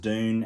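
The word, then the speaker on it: Dvne: the band uh dune it's spelt d v n e but it's pronounced dune and yes it was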